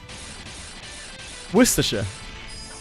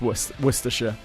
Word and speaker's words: Worcestershire: I think a lot of people just really mispronounce Worcestershire. I think that's the problem, because we slur our speech really awfully. But it's actually not that bad once you break it down. It's just worse.